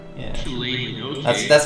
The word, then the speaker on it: Shillelagh: How do you even pronounce that cantrip? Shillelagh? Shillelagh. Yeah. Shillelagh, okay.